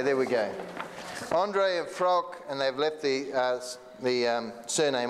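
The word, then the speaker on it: Frauke: Yeah, pronounce that so I don't destroy her name. There, this one here. Frouk.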